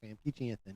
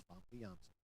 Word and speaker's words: Famke Janssen: Although, if you do believe Famke Janssen, and that is how her name is fucking pronounced, by the way, it's not Famke Janssen, it's Famke Janssen.